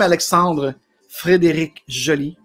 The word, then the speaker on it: Alexandre Frédéric Joly: So I'm Alexandre Frédéric Joly, well pronounced in French.